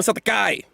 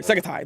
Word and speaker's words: Sekatai: How you doing, Satakai? If I'm saying it right. Sekatai. Yeah, there. Sekatai. There it is. I was like, I had to double check. I said it wrong a little bit.